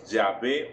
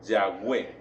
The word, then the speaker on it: Yahvé: Mira que este nombre, yo soy el que soy, o bueno, dicen los expertos que la mejor forma de pronunciarlo es Yahvé o Yahweh.